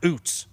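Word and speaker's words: Ouzts: Rookie out of Alabama spelled O U Zts pronounced oots.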